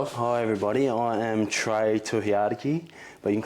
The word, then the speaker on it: Tohiariki: I am Trey Tiadaki, but you can call me.